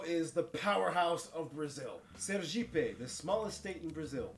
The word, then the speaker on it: Sergipe: There's a stupid joke, which Brazilian state wants to be a jeep? Sergipe, because, you know, in Portuguese, ser means be, and jeep is how you pronounce it.